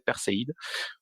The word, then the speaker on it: Perséide: Et donc, c'est, voilà, la cuvée Perséide, Perséide, je sais pas comment on peut prononcer. C'est évident, c'est Perséide. Mais il n'y a pas un i tréma, alors c'est pour ça que j'hésite à dire Perséide.